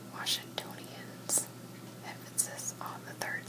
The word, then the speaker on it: Washingtonians: should have jobs alright so residents are called washingtonians this on the third syllable pronounced as stone so Washingtonians yeah yeah